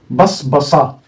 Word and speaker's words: بصبصا: باء، طبعا دي باء ودي صا ودي باء ودي صا، ده مخصص لا ينطق، فتصبح ايه؟ بص، ها بص، بصبصا، بصبصا.